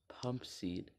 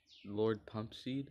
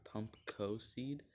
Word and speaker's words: Pumpseed: long time since Lord Pumpseed was released, I had been calling him Lord Pump Co Seed. And then in my comment section, someone let me know, hey, that's you've been saying his name wrong.